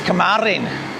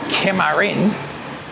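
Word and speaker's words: kemarin: not boc it's besoc yesterday is kamarin not kearin it's It's so you know I know those because I've I've obviously learned the words.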